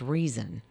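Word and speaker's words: Reezon: her daughter's name is reason but it's r-e-e-z-o-n but it is pronounced just like reason for some reason yeah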